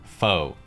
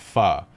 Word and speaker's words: Pho: after some type of pun involving the word foe fo sure foe ever fo true foe you etcetera but in reality the word is actually pronounced fa as in farded guys i waited four years